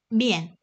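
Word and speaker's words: 面: 발음은 미엔.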